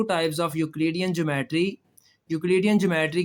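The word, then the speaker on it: Euclidean: ये जो इयू है ना इसमें ई साइलेंट ही समझें। यू से आप स्टार्ट करेंगे। जैसे यूरोप होता है ना यूरोप में भी ई साइलेंट है अगर आप देखें तो। तो यह लफ्ज है यूक्लिडियन।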